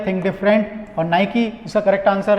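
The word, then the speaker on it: Nike: पास सबसे पहले है नाइकी इट is pronounce as नाइकी नॉट नाइक ठीक है सो नाइकी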